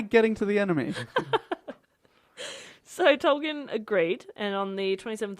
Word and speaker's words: Tolkien: Tolkien. Right? I thought that was so funny. He's not a keen student. It's how to say his name. It's Tolkien. Note to self. Say keen.